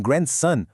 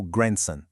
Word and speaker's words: grandson: E um detalhe interessante, em grandson, o d quase some, soando mais como grandson.